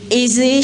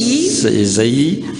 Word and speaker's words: Isaïe: Le message que nous allons recevoir aujourd'hui se trouve dans le livre d'Ésée, Ésée chapitre 33. Isaïe, ça se prononce Isaïe.